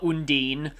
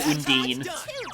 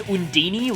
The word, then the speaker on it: Undine: they're named after i usually just go for undine i i definitely don't think that it's hondini like they say in um tales of sinfonia pretty sure that's not how you pronounce it but yeah okay i